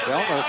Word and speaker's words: Delnos: Delnos, and actually the pronunciation of that would be Del Noche if you were doing it in the Italian. But I remember when I had Ken, the first of them, you know, and I talked to him, I said, how do you pronounce your name? He said, Delnos.